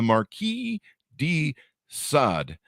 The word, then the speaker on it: Marquis de Sade: uh the curse of the Marquee D sod uh I believe I have that pronounced correctly a note yeah there you go uh you can hear